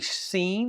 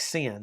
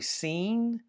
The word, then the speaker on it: Sin: Um, it's really seen like sen. Okay, it looks like sin, doesn't it? But it's really seen.